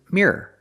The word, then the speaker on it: mirror: these two words Mir the first word is mirr it's one syllable and the second word is mirror it's two syllables you can make it